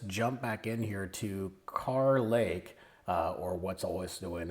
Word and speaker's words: Kerr Lake: Lake the wrong thing I've been calling it kerlake didn't realize it was car Lakes so my apologies I'm